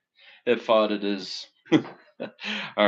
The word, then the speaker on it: ephod: Ephod. Okay. Ephod. Ephod it is.